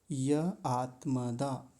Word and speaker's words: य आत्मदा: फिर आगे है आत्मदा। आत्मदा। य आत्मदा। दोनों को अलग बोलेंगे।